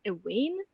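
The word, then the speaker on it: ehwaine: about attitude follow her ig and twitter at ewayne that's spelled e-h-w-a-i-n-e and if you want to hear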